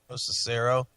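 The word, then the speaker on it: Locicero: Lucero.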